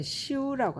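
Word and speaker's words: 修: 자, 그 다음에 보면 이제 또 중국어 발음으로는 시우라고 합니다. 시우. 말하자면 이것도 이제 한국어 발음으로는 수인데요. 고친다는 얘기예요.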